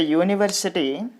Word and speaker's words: university: Even though this is vowel, we are pronouncing it as a consonant sound, just like U, university.